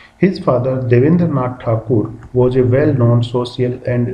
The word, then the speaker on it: ठाकुर: है पूरा पैसेज रविंद्रनाथ ठाकुर इसमें ठाकुर लिखा है स्टूडेंट्स इसलिए लिखा क्योंकि ये ठाकुर ही थे बाद में अंग्रेजों का जो उच्चारण था बोलने का ठकर ठकर टकोर करके टैगोर हो गया था तो ठाकुर से